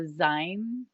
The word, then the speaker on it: zine: we have is a zine oh zine is how it's pronounced thank you yep but you're not the only one so it's it's short for magazine and and um there